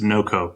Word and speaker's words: NoCo: NoCo or North Colorado, or how do you like to say it? Technically with the state, it's just NoCo Pet Doors.